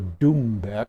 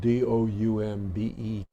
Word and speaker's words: doumbek: It's called a doumbek. I think it's spelled D-O-U-M-B-E-K, doumbek.